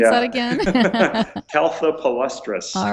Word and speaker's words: Caltha palustris: How do you pronounce that again? Caltha palustris.